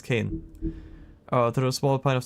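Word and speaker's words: cairn: I think the R is silent with that word. A small pile of stones to represent the many Yeah, it's Kane.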